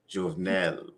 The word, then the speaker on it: Jovenel: Jovenel The one that was assassinated recently.